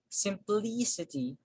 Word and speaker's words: simplicity: historic then we have simplicity simplicity since the word ends with uh ity so the stress falls on the syllable preceded by the suffix simplicity simplicity simplicity and